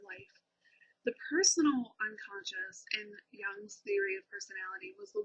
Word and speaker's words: Jung: Before we get to her, let's progress into Jung, and that's how I've been told to pronounce his name.